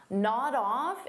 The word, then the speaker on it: nod off: Nod off is a phrasal verb, so we'll pronounce it as one word, nod off. So notice I'll take that D sound and I'll connect it on the off, but I have to combine it together.